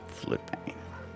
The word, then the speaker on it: Floodbane: Floodbane. Spelled with an umlaut. Rhymes with wood grain.